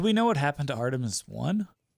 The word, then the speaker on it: Artemis: Artis Artemis.